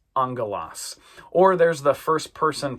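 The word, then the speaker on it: ἄγγελος: And the smooth breathing mark we're not going to pronounce. Okay? Vowels, words that start with vowels will have that smooth breathing mark over them. A lot of them will uh but we're not going to pronounce it. We just pronounce this angalos.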